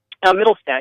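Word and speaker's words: Mittelstaedt: fruit guys founder middlestead am i pronouncing your last name correctly middlestat yeah okay great uh you can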